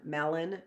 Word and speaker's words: melon: the end or o-n Melon right but it's melon so that's actually a sight word as well because some of us want to put an eye on at the end I've done that I